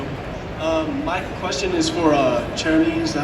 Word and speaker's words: Cherami: My question is for Cherami, is that how you say it? Yes, Cherami and Bryce.